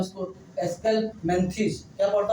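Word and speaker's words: Aschelminthes: बेटा प्रोनाउंसिएशन आप लोग कुछ भी कह सकते हैं, इसको एस्केलहेल्मिन्थीज भी कह सकते हैं, लेकिन प्रोनाउंसिएशन में यहाँ कोई ज़्यादा तवज्जो नहीं दी जाती है। केवल इसको हम लोग कह सकते हो, कुछ लोग एस्केलहेल्मिन्थीज कहते हैं, कुछ लोग हम लोग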